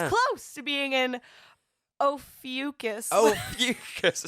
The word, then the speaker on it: Ophiuchus: How do you pronounce? Ophiuchus. Oh. Would you call me? Ophiuchus.